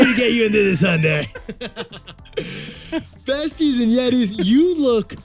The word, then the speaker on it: Hyundai: now working in new york city hyundai it's pronounced hyundai like 7 days well done well they make